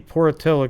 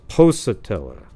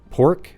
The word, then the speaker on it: Pocatello: And then said I guess, so it's Pocatello. You know, you say Pocatello? How do you pronounce that? You guys know? Pork? There's no O-R in there. It's just P-O-C-A-T-E-L-L-O.